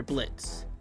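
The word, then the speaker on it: Blitzø: 467 we have spider Blitz and yes the O is silent back on track blitzo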